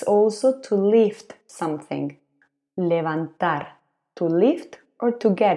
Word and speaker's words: levantar: also to lift something levantar to lift or to get up this is a regular verb levantar ending with ar levanto it's also written with v but one more time we pronounce a b what if we want